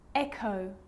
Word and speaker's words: echo: occasions it's not pronounced the h is silent so it's choir choir echo echo with a g ghost